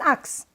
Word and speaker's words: axe: An axe, that's right. Not an ox, but an axe.